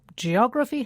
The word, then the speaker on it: geography: its stress yes now geography has four syllables G orra and the stress falls on the third syllable from the end geography not geography geography